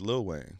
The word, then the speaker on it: Lil Wayne: It's Lil Wayne. You say little. Fuck you. I'm just saying. Okay, my bad for pronouncing the full little.